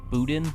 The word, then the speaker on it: boudin: then I've had some that are the boudin. Is that how you pronounce it?